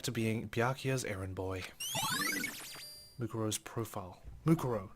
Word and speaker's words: Mukuro: Mikuro who's dead? Mukuro? Damn, I keep getting the bloody name wrong.